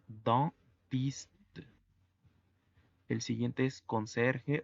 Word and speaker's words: dentiste: La combinación de EN hace que se pronuncie como una A gangosa. En. Es por ello que la pronunciación es dentiste.